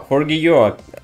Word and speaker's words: Forgejo: spin this is for G and this is pronounced I already checked if we got to fck fiq uh forio actually inspired by forgo espiranto which is artificial